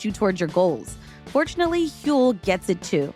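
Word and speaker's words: Huel: Getting the kids ready for school, squeezing in a fourmile walk before my production meeting, grabbing my Hule Black Edition saves my mornings.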